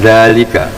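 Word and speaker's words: ذٰلِكَ: Terus sampean kalau nulis dalika dalal lam kaf dalalnya ada alif apa gak? Gak kan? Tapi baca dalnya panjang enggak? Panjang bacanya kan dalika.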